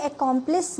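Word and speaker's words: accomplice: ये अकॉम्प्लिस दूसरा है, इसकी स्पेलिंग डिफरेंट है बट प्रोनाउंसिएशन सेम है।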